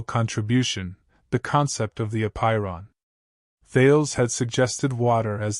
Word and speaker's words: apeiron: The word apeiron, pronounced apeiron, is derived from Greek, where a dash means not or without, and peirar means end or limit.